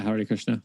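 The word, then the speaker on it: Hare Krishna: but the they found out how do I pronounce it is it Hari Krishna yeah Hari Krishna there was actually one dude that found a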